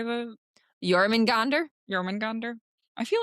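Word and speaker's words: Jörmungandr: Yeah, no, but I love the tie to, how do you say the Jormungandr? Jormungandr? I feel like I've heard that before. How do you spell it? It's Jormungandr.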